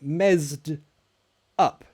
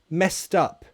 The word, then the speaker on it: messed up: messed up I'm sorry also notice the pronunciation it's not mess said up and it's not messed up it connects the IDI is a sound so messed messed up messed up that's the connected sound messed up I messed